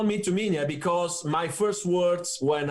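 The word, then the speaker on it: Tuminha: me to me yeah it's how we say in portuguese uh you you you spell it to menia it's how my family calls me you know they do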